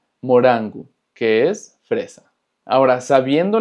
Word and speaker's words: morango: Pero cuando la R está en medio de dos vocales, se va a pronunciar exactamente igual que en español, como una R. Por ejemplo, morango, morango, que es fresa.